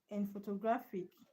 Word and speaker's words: photographic: The stress is on graph.